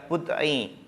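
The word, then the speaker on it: بضع: Nah, jangan lupa cara membacanya adalah bud'i.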